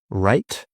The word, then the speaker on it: write: Write, wrong. Careful, you write with a pen, okay? But this is my right hand. Spelled differently. Wrong, silent W.